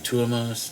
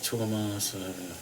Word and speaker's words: Tuomas: Tuomas. Tuomas. It's, sorry if I'm mispronouncing. It's kind of like a Northern American pronunciation of Thomas. It's like Tuomas.